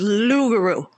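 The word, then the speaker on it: loup-garou: Lou or Loop Lou you don't pronounce the P so it's lugaroo all right right like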